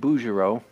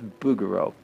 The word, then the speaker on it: Bouguereau: William Bouguereau, B-O-U-G. Some people mispronounce it Bouguereau, but I believe it's Bouguereau.